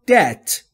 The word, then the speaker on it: debt: Go into debt. یا run into debt. Go into debt. یا run into debt. Debt همطور که میبینید بیش تلفظ نمیشه.